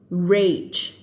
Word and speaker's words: rage: Rage. ไม่ใช่เลดนะ rage เวลาเจอ age ออกเสียง h ใช่ไหมนี่ฝึกอีกแล้วถ้าสมมติเราตัดตัว r ออกเราก็จะอ่านว่า age ใช่ไหมคะอายุอะไรอย่างนี้ใช่ไหมพอเราใส่ตัว r